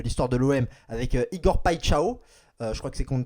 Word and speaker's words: Paixão: non, du coup, on dit pas Igor Paxao, pas Paxao, etc. Ça se dit pas Chao. Paixao. Le X, Paixão. tu le prononces ch dans le côté portugais, enfin, ouais, brésilien, portugais, c'est pareil.